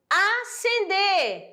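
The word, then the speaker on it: ascender: isso que a pronúncia esse S não é pronunciado é acender e a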